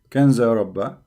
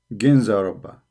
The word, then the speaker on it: Ginza Rabba: So here they are pronouncing it Kanza Rabba. You see it? Kanza Rabba. Here in Wikipedia they pronounce it as G. Ginza Rabba.